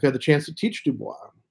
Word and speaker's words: Du Bois: the chance to teach Dubois Dubois is how it's supposed to be pronounced but you know from a French background that's it's it's really tough not to read it that way yeah I've read him